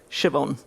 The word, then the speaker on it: Siobhan: out their name so siobhan will just be shev hyphen en siobhan so easy right it's not how she spells it doesn't sound that way but phonetically spelling i